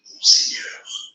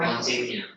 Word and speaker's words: Monseigneur: How do you say it in French? It is said as Monseigneur. Oh God. Monsignor. Monsignor. That's what I said. They must be silent.